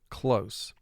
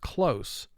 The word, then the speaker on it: close: Now here we have the word written twice because you can pronounce this word in one of 2 ways. The top word is the way I just pronounced it, close. The word under it, if you were to pronounce it the way it's marked, you would pronounce that word close, as in close the door.